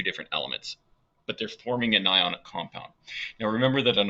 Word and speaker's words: anion: call those cations and anions, just like an onion is not an on-ion, right? We pronounce that onion, even though this is pronounced an ion, not an anion.